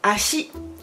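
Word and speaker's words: 足: Alors c'est ashi, ashi, 2 syllabes, ashi, ashi.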